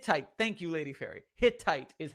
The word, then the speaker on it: Hittite: fittest sight hit type thank you lady ferry Hittite is how you say that word flaafy points